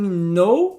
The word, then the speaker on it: know: A letra K em know, que significa saber, know, ou então em knife, que significa faca, também não é pronunciada.